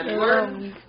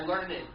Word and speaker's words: learned: different C good now when you say I learned it sounds like it ends with learn I learned about different things don't say I learn it I learned I learned yeah it the Ed the Ed sounds like T I learned about different